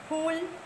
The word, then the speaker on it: फूल: से किया, चुन, लेकिन फूल का प्रोनाउंस फूल, चुन। सो इस दीर्घ ऊ की वजह से हमें इसे थोड़ा सा लंबा खींचना है, और ये ह्रस्व ऊ की मात्रा है, इसे इसलिए झट से बोलना है, चुन।